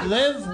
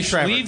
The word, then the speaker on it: Liev: Live? What is he? Pronounce his name. Liev Schreiber.